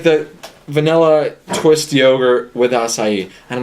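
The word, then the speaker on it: açaí: to for me to order and I order acai bowl as I have learned it is pronounced and so stupid people there you go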